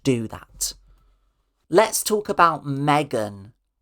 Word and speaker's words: M3GAN: Megan where it's spelled with a three. It's like instead of an E, there's a three where the E should be.